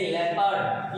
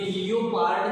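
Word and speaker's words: leopard: ऐसे लेपर्ड, ये लियोपार्ड नहीं है, कुछ बोलते हैं लियोपार्ड, लियोपार्ड नहीं है, दिस इज लेपर्ड।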